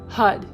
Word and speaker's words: har: each hand motion sing HUD which is written like har but pronounced like HUD you can always google